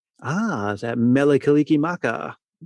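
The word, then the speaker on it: Mele Kalikimaka: Ah, is that Meliki Maka?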